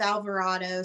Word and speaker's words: Alvarado: So my husband jokes and swears that because there's a line in there that says "Damn you, Colorado," and of course Colorado rhymes with Alvarado, so he swears that I wrote that song about him, and I was like, no, I did not.